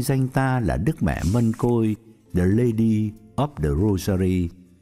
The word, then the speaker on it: Mân Côi: chắc cũng biết chứ Mân Côi là cách phát âm từ tiếng Hán Việt nghĩa là hoa hồng Rosa hoặc rosary có nhiều nơi đọc là môi Côi hoặc mai Côi hoặc Mai Khôi như vậy Đức Mẹ